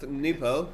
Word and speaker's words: Nupo: The NWPO player is pronounced Nupo. Sometimes they say B instead of P. I don't know really why, but yeah, Nupo. I call him Nupo, so there you go.